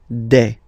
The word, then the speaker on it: des: Okay, and then the plural form, des. All right, here, s, you pronounce it like a. Okay, un, une, des.